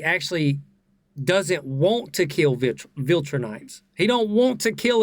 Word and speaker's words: Viltrumite: While I was editing the video, I realized I was pronouncing Viltrumite wrong. I was pronouncing it Viltrunite with an N.